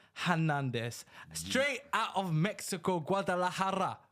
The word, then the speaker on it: Guadalajara: Straight out of Mexico, Guadalajara, if that's how you pronounce it. That is correct. Perfect pronunciation.